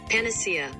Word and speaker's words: panacea: siri here to say this is how it's pronounced panacea panacea panacea panacea panacea according to to google translation all right good to